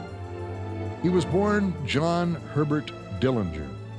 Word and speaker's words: Dillinger: was born John Herbert Dillinger family always pronounced the name with a soft G his mother died when